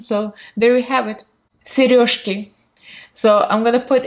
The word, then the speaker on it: сережки: Сережки.